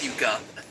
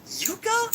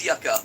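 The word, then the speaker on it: yuca: Yeah, it's pronounced yuka.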